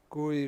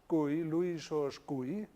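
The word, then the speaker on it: Gouy: here we first have gui um a french scientist yeah and this is why he is pronounced that way um anthony siegmann a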